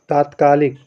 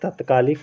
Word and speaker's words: तात्कालिक: होगा आगे है तात्कालिक तात्कालिक में दोस्तों ता पर बड़ा की मात्रा रहेगी वो वाला आपका सही होता है एक तत्कालिक पढ़ा जाता है एक तात्कालिक तो लोग तत्कालिक का उच्चारण ज्यादा करते हैं तात्कालिक का उच्चारण कम करते हैं तो याद रखना तात्कालिक होता है और इसको अपने उच्चारण